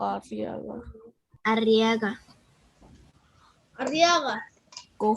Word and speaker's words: Arriaga: ¿Arriago o Arriaga?